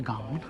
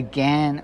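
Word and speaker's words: Ghan: right the Gan Railway we're pronouncing it correctly we've been corrected by that it's not the gone it's the Gan Railway check their website out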